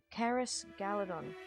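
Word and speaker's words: Caras Galadhon: Turning aside, she led them towards the southern slopes of the hill to Caris Galadon. And passing through... It's so weird pronouncing C's as K's.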